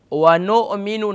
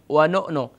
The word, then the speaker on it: ونؤمن: ونؤمن no. ونؤمن. When you're joining noon with Hamza, you can join noon, vow, noon, Hamza, pesh.